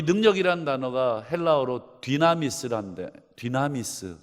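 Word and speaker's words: δύναμις: 여러분 이 능력이라는 단어가 헬라어로 디나미스란데, 디나미스 좀 발음이 어렵지만 여러분 비슷한 발음이 여러분 성경에 영어에도 있습니다. 디나미스, 다이나마이트. 이 단어가 이 단어에서 온 단어입니다.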